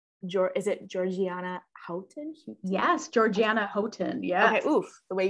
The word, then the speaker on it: Georgiana Houghton: Today I was reading, and okay, actually, how do you pronounce, is it Georgiana Houghton? Yes, Georgiana Houghton.